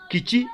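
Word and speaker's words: kici: So, take for instance, the word kichi is spelled as K-I-C-I. And in that word, the C is pronounced as ch, not as k.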